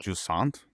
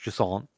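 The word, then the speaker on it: Jusant: it jant I think jant yeah I think it's like French jant jant it's spelled j u s a NT it's a game about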